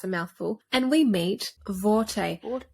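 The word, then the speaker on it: Borte: mouthful and we meet vorte it's spelled with a B but it's not pronounced as a b it's pronounced with a v in the audio book it's a v it's not boughty it's not boughty it's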